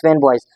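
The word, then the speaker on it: FANBOYS: फैन बॉयज, this is a formula, this is acronym फैन बॉयज, it's pronounce फैन बॉयज।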